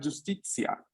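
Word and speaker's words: giustizia: Aquí ya tienen un pequeño spoiler de la pronunciación de la Z en italiano, ¿no? Justicia. S. Ok, el sonido es como una TS.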